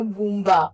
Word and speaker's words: Bumba: Alors, comme vous le savez, le gouverneur de la ville-province de Kinshasa, Monsieur Bumba, j'ai bien prononcé son nom, c'est rocambolesque, digne d'un film, à grand budget.